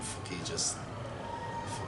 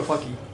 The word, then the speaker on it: Fuki: Is it pronounced Fuki or Fucky? Fuki, okay. Yeah. If you go Fuki, it's probably not. Yeah. This is what I'm going to No. Yeah, definitely Fuki.